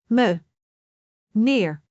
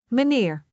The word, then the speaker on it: meneer: A sounds like the E in bed, but sometimes it sounds like the E in the English word. The for example in the word manier which means mister. Let us break it down. Me neer. Meneer repeat after me.